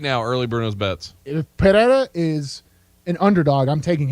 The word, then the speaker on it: Pereira: If I can get Pereira at plus 250, what's the fun?